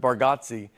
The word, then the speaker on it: Bargatze: I think you say our last name correct with Bargotsi. And I think we say it wrong as a family.